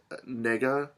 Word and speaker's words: Negga: and TV shows like Dominic Cooper and ruth negga i believe is how you say her last